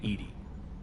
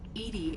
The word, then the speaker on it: EDI: are her named Edie Edie is the phonetic pronunciation of EDI that is an acronym